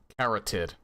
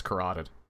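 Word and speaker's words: carotid: severing his koted artery I think I used to pronounce that kotd but it no I'm pretty sure it's kateed the time the guard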